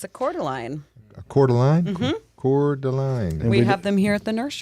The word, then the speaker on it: Coeur d'Alene: northern Mississippi yeah it's spelled like the city in Idaho Coeur d'Alene quarter line quarter line according line yeah okay